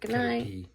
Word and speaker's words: Caterpie: Caterpie. It's pronounced Caterpie. That's stupid because it says pie.